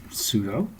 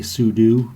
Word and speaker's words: sudo: gives you administrative powers some people say su do because it's super user do but I pronounce the